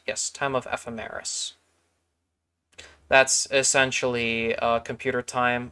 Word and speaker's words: ephemeris: f f FM H I always struggle to pronounce this word um someone has a phonetic in here time of ephemeris yes time of ephemeris that's essentially uh computer time of liftoff it's